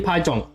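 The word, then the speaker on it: 파전: Is Korean pajeong. It's spelled Pajeon.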